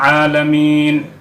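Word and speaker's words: العالمين: হলো রব্বিল আলামিন এখানে আলামিন উচ্চারণ করার সময় আইন উচ্চারণ করতে হবে গলা থেকে উচ্চারণ হবে যার অর্থ হবে বিশ্বজগত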